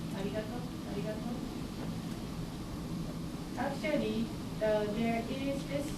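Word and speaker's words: ありがとう: In Japanese, there is no R sound. Some people say it's arigato, by the way. Arigato, arigato, some people say that between L and R.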